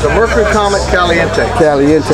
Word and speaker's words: Caliente: How you pronounce that? It's a Caliente.